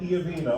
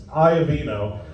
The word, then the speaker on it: Iovino: I mispronounced his name. I want to make it Iovino. I want to over-pronunciate and over-Italian and, say it like I'm delivering a pizza. No, it's Iovino. And you know that because